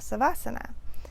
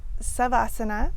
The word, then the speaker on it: Savasana: So Savasana can also be said Shavasana, and sometimes you'll hear Shavasana or Savasana, and these are all correct.